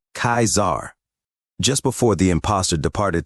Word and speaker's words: Caesar: after hearing the Spy pronounced Lord kaisar name like a dissolute instead of the correct pronunciation of the word being kaizar just before the impostor